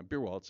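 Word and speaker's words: Beierwaltes: Yeah, Beerwaltz.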